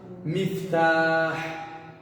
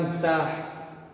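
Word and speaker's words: مفتاح: Mas no original, no árabe clássico, miftah, que a gente sabe, se a gente pronunciar muftah, miftah, todo mundo vai entender a gente. Falando muftah, o miftah, todo mundo vai te entender, das duas formas, mas essa forma é correta e a outra é o que?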